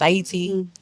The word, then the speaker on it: Ayiti: Aayiti is Aayiti means the land of high mountains or flower of highland. It is the indigenous um pronunciation and preferred um way to describe the country of Haiti. And so it's Aayiti.